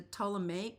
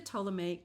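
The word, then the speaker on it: Ptolemaic: well next is the to period the p is silent that was a real hard one for me to learn how to say and during the toic period those kings governed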